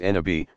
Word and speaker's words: nabi: Every prophet, Nabi, pronounced Nabi, passes along the divine word to a particular people and inevitably meets with tremendous resistance, at least initially.